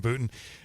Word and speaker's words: Boonton: nice and location here in Boonton rhymes with footin and this was the